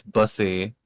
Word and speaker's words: Busey: Zach yeah, Busey, I believe, announced it.